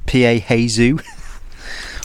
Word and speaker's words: piezo: which I'm using today, it's got a built-in piezo igniter. Shout out Benny Mac. Every time I say piezo, he thinks I'm saying piezo. Obviously a nice bit of music there, but no, how do you pronounce it?